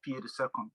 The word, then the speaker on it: PA.II: And on social media, PA.II official, pronounced PA.II. I like to spell them out because person will look me and say pi.